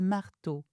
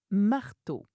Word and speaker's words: marteau: Je prends souvent des outils avec moi comme une truelle ou un marteau.